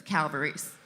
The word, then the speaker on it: Calvarese: You can say it Calvarese, Calvarese, Calvarese, however you want, but if you're going to say it right, you have to say it with your hands. So that's Calvarese.